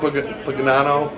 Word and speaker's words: Pagano: Well, he's got Baltimore roots, and he talked here, first-year Colts, Chuck Pagano. Pagano's how to pronounce it.